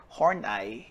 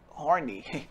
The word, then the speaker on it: Horney: according to theorist karen hornai yes it's pronounced as horney and not horny this behavior is due